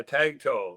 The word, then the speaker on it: Tagto: Uh, Tag toe. Like my wife tells me, tagging a tow truck.